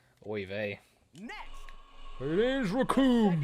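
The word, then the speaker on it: Recoome: vay next it is raccoon it rhymes with doom raccoon versus goku are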